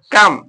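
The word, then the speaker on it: calm: अगला वड है सी ए एल एम क्या कम यहां पर एल साइलेंट है कम कम माने शांत कम पढ़ेंगे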